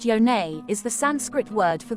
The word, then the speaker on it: Yoni: Partners the Yoni vagina Yoni pronounced yonay is the Sanskrit word